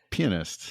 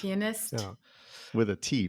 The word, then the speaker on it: pianist: yes that's correct wait how do you say it again pianist pianist with a t pianist there's t on the end pist an IIA in the middle yeah um I think